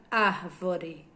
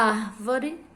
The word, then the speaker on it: árvore: por exemplo a palavra árvore e Você lê devagar você vai ver que e a árvore a sílaba mais forte a que você fala com mais força é a sílaba ar a árvore então a